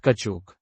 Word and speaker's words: caoutchouc: What type of natural substance is caoutchouc, pronounced kachuk?